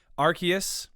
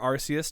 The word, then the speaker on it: Arceus: We're going to talk about Pokemon Legends Arceus, or Arceus, depending on if you grew up with the games and no one pronouncing them, or if you were born yesterday, and Lego Star Wars, because David, you finished the game, right?